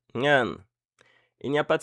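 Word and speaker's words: เงิน: La consonne initiale est le N, la voyelle est le E court, et la consonne finale est le N, donc Ngan.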